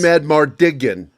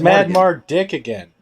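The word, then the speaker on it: Madmartigan: that's how it's spelled i think it's mad mardigan no no no he's literate it's not mad mark dick again know each other uh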